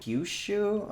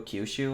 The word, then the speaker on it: Kyushu: think is based off of Japan's southern island Kyushu, I want to say it's pronounced. Apologies, I am not a native Japanese speaker. How's it spelled in English? Kyushu, Kyushu, I want to say it's pronounced.